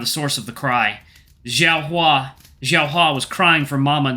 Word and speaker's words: Xiao Hua: It's Xiao Huo! Xiao Huo? I'm not sure how to pronounce that. Hua. Xiao Hua.